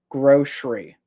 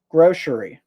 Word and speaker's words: grocery: Grocery. Grocery. And lots of people pronounce it with the s sound from the c. Grocery. Grocery. But for me, I pronounce it with the sh sound. Grocery.